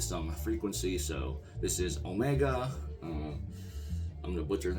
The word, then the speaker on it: Omega: speak for itself um omega just like will be pronounced in english the name is the